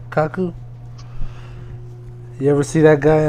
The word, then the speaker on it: Kaku: Yeah, like, okay, so Michio Kaku, I think is how you pronounce his name, Kaku.